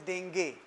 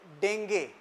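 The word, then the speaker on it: dengue: इट इज़ डेंगे नॉट डेंगू।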